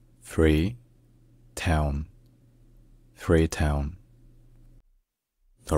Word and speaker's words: Freetown: Coastal Beauty and cultural heritage in English is pronounced free Town free Town free Town free town all right if you enjoy learning